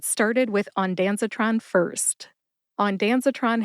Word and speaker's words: ondansetron: started with onanon first onanon has four syllables on as in the bottle is on the Shelf Dan which is short for Daniel S like